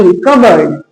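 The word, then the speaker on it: cupboard: सी यू पी बी ओ ए आर डी कबर्ड।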